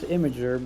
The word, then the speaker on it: Imgur: Actually, I'm not really sure on how IMGUR is normally pronounced. It's It's Imgur. supposed to be pronounced Imager, but I call it Imgur because that's Imager.